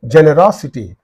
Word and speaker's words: generosity: qu equality equality right and generosity so it is in these two syllables the preceding one is row generosity this was given sometime